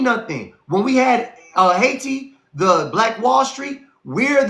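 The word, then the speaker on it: Hayti: Look up Haiti, Missouri. Look up I Missouri is spelled H A Y T I.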